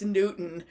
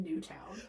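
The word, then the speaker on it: Newtown: I'm like, "Do you perhaps mean New Town?" Well, it is not spelled like town, so I called it Newton like the big Newton.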